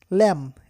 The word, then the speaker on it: lamb: ল্যাম, LAMB, ল্যাম উচ্চারণ হবে ল্যাম, bitter উচ্চারণ হবে না।